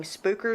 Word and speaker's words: Spooker: Inside, new You're not saying it right. You got to say it like you're from the area. You act like you ain't ever been down to the southern part of Missouri before. It'd be spooker. Spooker.